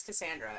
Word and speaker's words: Cassandra: It's a soft C. Yeah, it is, but it's not.